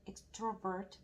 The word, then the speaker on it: extrovert: My mom has an extrovert personality. Personality. 러네. Personality. My mom has an extrovert personality. My mom has an extrovert personality. Extrovert. 익 아니고 액이네.